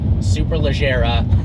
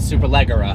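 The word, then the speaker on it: Superleggera: is not Gallardo and it is super leera not super Leger one of my favorite comments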